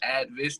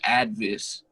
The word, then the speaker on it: A.D.V.I.S.S.: will catch and it'll be like, yeah, it's A.D.V.I.S.S, not A.D.V.I.S.S, not A.D.V.I.S.S, Right. not like, you know, all these different, you know, pronunciations, which I mean, I can use play